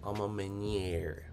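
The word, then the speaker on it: A Ma Maniére: i've never heard of those for some reason um vice p says it's pronounced amma meniere yeah i know but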